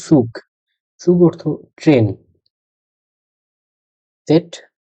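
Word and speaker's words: Zug: ওর লাস্টে যে সেট আছে, সেট দিয়ে সেট উ গে, একত্রে সুগ।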